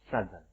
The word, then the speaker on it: southern: Tetapi begitu ditambahkan ERN, bagian selatan, kita membacanya bukan southern, tetapi southern, pakai Z, southern.